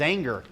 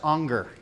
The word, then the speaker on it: Anger: the top it says anger but really it's it's in German it's pronounced Unger so the kind of